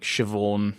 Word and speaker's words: Siobhan: I know that you've got, like, Siobhan, which is a BH, and that makes a V.